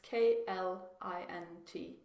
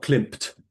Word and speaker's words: Klint: It's A F and then it's K L I N T. Klint, not Klimt. No. Yeah. Hilma af Klint.